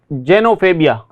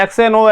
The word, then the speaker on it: xenophobia: तो यहाँ पे देखिए, इसको जेनोफोबिया, जेनोफोबिया, जेनोफोबिया, फोबिया, जेनोफोबिया कहा जाएगा इसको। ऐसे एक्सेनो ऐसे नहीं पढ़ना है।